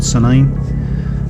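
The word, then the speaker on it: Sandend: This is us riding through a little village called Sand End. Locally, again, strange pronunciation, but it's called Senine.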